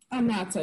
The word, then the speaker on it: Anatha: And let's talk about as far as what you represent and what you're doing now with Anatha. Am I pronouncing it right? Anatha, yeah.